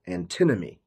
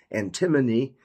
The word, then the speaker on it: antinomy: are not however there is a property called antinomy so it took me a week to pronounce this word correctly because I kept saying antimony which is an element but anteny what is